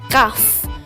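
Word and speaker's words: كاف: forms next is kaf which is pronounced like the k and it is a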